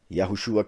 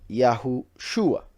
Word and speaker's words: Yahushua: repeat it right now yahushua came with the name with this pronounciation yahushua yahushua then the jews who